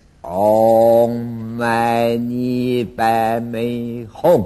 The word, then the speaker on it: Om: 大明咒，不要念成安哦，第一个字 Om，头部发音。